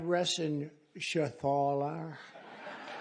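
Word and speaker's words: Reschenthaler: thank you and Guy Ren Shaler you know that Ren Sher he's uh that's actually the way you pronounce it you know nobody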